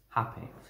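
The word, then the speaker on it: rapé: into my life and it's spelt r-a-p-e like rape but it's pronounced happy um and if you're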